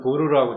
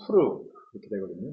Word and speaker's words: 푸르: 오늘 에스더 3장 7절로 15절까지 말씀 가운데서 복수의 푸르 그니까 우리 한글에서는 부르라고 되어 있는데 원래 히브리 발음으로는 푸르거든요.